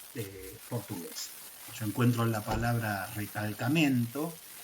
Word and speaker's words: recalcamento: Yo encuentro la palabra recalcamento, que en portugués no la pronuncio con mi portuñol, la pronuncio así porque este es de Portugal, no de Brasil.